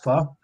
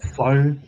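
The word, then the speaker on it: phở: Because I know that you did the when you did the live with your lunch, you had that pho or pho as Caucasians pronounce it.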